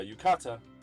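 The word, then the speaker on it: 浴衣: yukata is how you say yukata uh yeah yukata the one on the other side which personally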